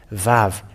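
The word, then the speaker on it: ו: the Aramean word that the letter Vav, it is pronounced V. And it is clear with that the Holy Scriptures say that Aramean has pronounced the word Vav, V-A-V, and it doesn't change to U.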